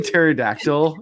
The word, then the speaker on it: pterodactyl: G is a gnome and then uh G is in new P is P is in pterodactyl.